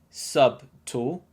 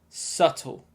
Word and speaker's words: subtle: this one we have another sneaky silent letter do you know which one it is yep that's right b so don't say sub tall you should say subtle subtle subtle means something